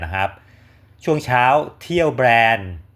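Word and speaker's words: Bern: ครับ ช่วง เช้า เที่ยว แบรนด์ หรือ เบิร์น นะ คน ไทย เรียก เบิร์น นะ เพราะ เค้า อ่าน ว่า แบรนด์ นะ เมือง หลวง ของ สวิต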